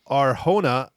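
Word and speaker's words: Arjona: acting and then Adria r hona i I think that's how you pronounce it audrea audrea R it's j n a but I'm pretty sure it's H or hona uh yeah she was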